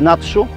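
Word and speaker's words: 나주: Wciąż trwają, w miejscowości pisze się Naju, czyta się po koreańsku Natsu, objawienia Matki Bożej właśnie w Korei Południowej.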